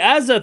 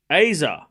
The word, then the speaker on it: Azza: Hey, Azza, thank you for the 38 months. My name is pronounced Aza, by the way.